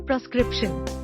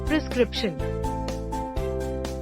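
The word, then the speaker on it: prescription: ऑन the second nine प्रिस्क्रिप्शन incorrect प्रिस्क्रिप्शन correct P आर एस के आर पी एन प्रिस्क्रिप्शन टिप the correct प्रोनंसिएशन starts with free not fee practical tips for mastering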